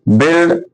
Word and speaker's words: build: यानी कि बिल्ड शब्द में कौन सा अक्षर साइलेंट है? यू साइलेंट है दोस्तों, यू है साइलेंट। साइलेंट मतलब शांत है, लिखा तो जाएगा, इट is written but not pronounced.